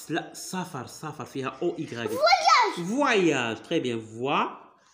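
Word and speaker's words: voyage: فواياج. تري بيان فواياج. الوغ هنا او ايغريك كتنطق كوم وا.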